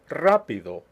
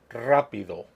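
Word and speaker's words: rápido: bruhula SE masphoto telefono rapido you can remember that rule or not it really is important to me that you remember the stress is where the written accent appears let's go over them again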